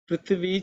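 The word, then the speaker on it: पृथ्वी: Prithvi Chame. Prithvi Chame. The second letter is Thi. It is the second letter in the tha varga, so it has to be aspirated.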